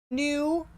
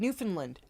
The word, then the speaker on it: Newfoundland: Oh yeah, we were watching Joe Scott today, and he pronounced it Newfoundland. Yeah. And it was just like, no, it's like one word, Newfoundland.